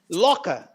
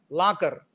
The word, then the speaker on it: locker: Look at this one, locker, law, rounded, and the final r is weak, and So you have to, but in the English, in the Telugu way of speaking or pronouncing this word is locker, la. We make it strong, but it should be rounded, law.